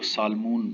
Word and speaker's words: salmon: अरबू में इसको सालमून कहते हैं, SALMON, तो इंग्लिश में इसको सामन कहते हैं, यानी L साइलेंट है।